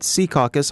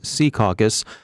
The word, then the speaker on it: Secaucus: jamming the Wi-Fi at Secaucus high school our North Jersey desk by the way insists that we use the old-school local pronunciation Secaucus as opposed to the trendy Secaucus favored by recent arrivals who lack knowledge but